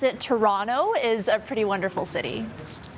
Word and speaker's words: Toronto: which right we all know how it's pronounced pronounce it like a true torontonian toronto toronto toronto it's not wonderful uh so that's the